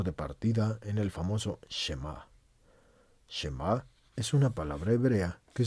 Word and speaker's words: Shema: partida en el famoso shema es una palabra hebrea que significa escucha Aunque sí está técnicamente correcto les digo que la palabra se pronuncia shemac Cuando alguien habla del